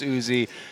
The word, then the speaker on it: Uzi: because there has been discussion on how to pronounce Uzi yes we did get confirmation from player management